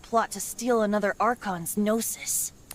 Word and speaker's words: Gnosis: It pronounced Gnosis, Gnosis, Gnosis.